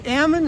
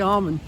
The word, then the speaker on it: almond: who I'm talking to if it's a local I say Ammon and if it's somebody else I say almond how do you pronounce